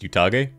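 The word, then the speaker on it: Utage: generation oh I was right before and it's pronounced utag okay I'll go back to saying utag people gaset me successfully hell Chad enjoyer based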